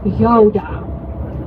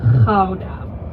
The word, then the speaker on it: Gouda: We actually even make fun of people with a soft G from the south. So we say Gouda.